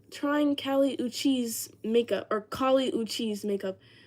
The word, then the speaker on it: Kali Uchis: I said Callie Uchi... Callie Uchis, or however you say that woman's name. People were saying I look like her. So I asked Alexa, I said, how do you say that name? And Alexa was like, it's Kali Uchis, okay?